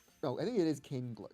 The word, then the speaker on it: Kingler: Oh, I think it is Kingler. King like like an angler. Like an angler, right? Angler fish. Kingler.